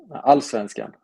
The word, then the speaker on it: Allsvenskan: How do you pronounce the top flight of Sweden? Allsvenskan. Oh, okay, Allsvenskan.